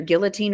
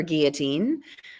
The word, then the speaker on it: guillotine: So depending on who taught you how to say this word, it's either guillotine or guillotine.